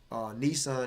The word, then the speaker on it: Nisan: which is March this is how you say Nissan and Babylonian March that was there in the